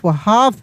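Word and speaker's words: half: एच ए एल एफ हाफ। क्या पढ़ेंगे? हाफ। यहां एल साइलेंट रहेगा।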